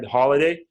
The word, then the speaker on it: Holladay: His name is Holladay, and am I pronouncing that right? Holladay.